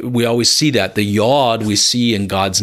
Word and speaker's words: Yod: The Yod it means the hand, okay? And it's pronounced with the yuh, the Yod.